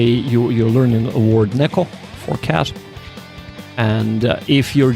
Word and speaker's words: neko: So, for example, saying neko rhymes with, god damn it, mecha.